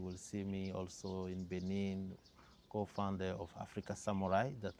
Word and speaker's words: Benin: We are French-speaking country. So in Benin, we will say Benin. Benin is in French, the Republic of Benin. But then Japanese, we say Benin. Yes. Because they will take it from the original pronunciation, which is Benin, so it becomes Benin.